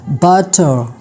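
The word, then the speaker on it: butter: आ आर आता है आर is silent in British a English if इट is follow by a consonant raw एट द एंड ऑफ a word are जो है वो British English में silent होता है जब इसके मतलब इसके बाद क्या होता है कंसोनेंट साउंड होता है जैसे कि बटर बटर लेकिन इंग्लिश अमेरिकन इंग्लिश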